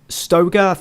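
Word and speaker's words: Stöger: whereas clone they've had a manager change Peter Stoeger that that's how you pronounce his name who in real life has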